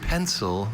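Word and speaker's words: pensile: Jane, your word is pencil. This pencil is an adjective. This pencil means suspended from above, hanging, pendant, pencil. May I have all information? Pencil is the only pronunciation of this adjective.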